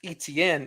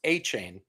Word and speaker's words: Etienne: He's saying it's not pronounced Etienne, it's pronounced A-chain.